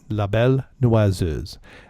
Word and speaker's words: La Belle Noiseuse: So, no, La Belle Noiseuse.